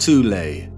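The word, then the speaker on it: Thule: Prior to the rise of the Nazi regime, there existed an occult secret society within Germany called the soul society, sometimes alternatively pronounced tulle, that had subfactions within it.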